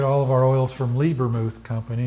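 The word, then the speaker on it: Lebermuth: We get all of our oils from Liebermuth Company. It's spelled L-E-B-E-R, Muth, M-U-T-H.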